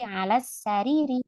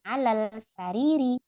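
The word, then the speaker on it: السرير: berarti dibacanya apa melebuk lam takrifnya hilang berarti menjadi alas sariri bukan Alal sariri yang dibaca jelas hanya yang di kotak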